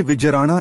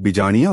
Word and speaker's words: विजयराणा: ये विजयराणा इनकी पदवी थी। इन्हीं के वंशज योद्धा जगत सिंह, वीर सिंह व देवराज आदि हुए। यह पदवी इनके गोत्र में बदल गई और आज गलत उच्चारण करके इन्हें लोग बिजाणिया बोलते हैं।